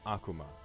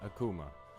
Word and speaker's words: Akuma: wait my name okay akuma not akuma i pronounce it wrong myself sometimes although you're welcome